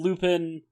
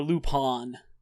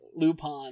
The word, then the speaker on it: Lupin: yeah um and then Lupin uh or lupon sorry uh was my voice echoing in the back of your head like say it lupon say it right he like hey uh